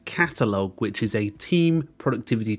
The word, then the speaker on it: Qatalog: So as you can see, it's called Qatalog. Now, I actually was pronouncing it Qatalog, I don't know why, but basically, the first